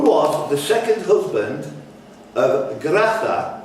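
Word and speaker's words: Graça: Who was the second husband of Gratha, that's C, Cedilla thing underneath, Machel?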